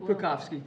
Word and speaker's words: Krakowski: Mrs. Krakowski, how do you say it? Krakowski. Krakowski You got it right.